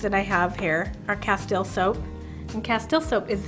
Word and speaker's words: Castile: Castile.